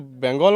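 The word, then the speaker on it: বাংলা: यह अब हम तो अपना बंगाल को ये करते हैं ना बंगाल को बंगाल माने बांग्ला हम लोग बंगाली में बांग्ला बोलते हैं। हम ठीक है। वो हमारा उच्चारण वो बांग्ला होता है।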